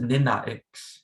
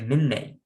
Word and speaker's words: ninnex: You see the a at the end changes from an a with the stabs at top, which is pronounced ah, and it becomes ai, which is pronounced a. So you don't pronounce it ninnax, you say ninnex, ninnex, ninnex.